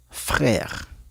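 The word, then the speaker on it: frère: Okay, se escucha como e y en la última sería frer. FR. Okay. Se escucha la e como e frer.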